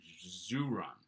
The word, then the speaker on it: ziran: pronunciation so uh this i think we're going with something like zoo run as soon maybe i'll